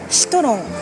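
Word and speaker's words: シトロン: Il n'y a ni le son si ni le son tron. Il faut imaginer les syllabes les plus proches possibles pour arriver à peu près à citron.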